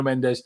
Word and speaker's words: Mendes: Neto's agent Nuno Mendes, or Menge, how you should pronounce it, I think in Portuguese, has agreed on personal terms with Chelsea.